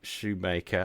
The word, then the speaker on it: Schumacher: who is Eric shoe Shoemaker I I notice your name is spelled um like you would say Michael Schumacher the Formula One driver but you say Shoemaker um are you related